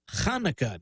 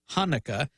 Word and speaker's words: Hanukkah: in case you're wondering it really is chanukkah not Hanukkah that's because the first sound in that word is the guttural not the voiceless glottal